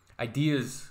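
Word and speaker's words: Eyedea: Rhymesayers Entertainment sadly passed away in 2010, but yeah, ideas live on forever, right? Even if the artist passes away. But Idea, it's spelled E-Y-E-D-E-A.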